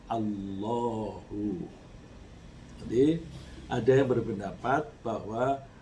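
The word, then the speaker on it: الله: Kemudian kata Al-Ilah, Hamzah kasrohnya itu I, Al-I, I-nya itu dibuang, lalu tinggallah lam mati diikuti dengan lam hidup. Jadi Allahu, lalu dibacanya tebal menjadi Allahu.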